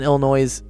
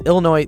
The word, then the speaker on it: Illinois: thought the s in Illinois it is Illinois the S is silent but they say Illinois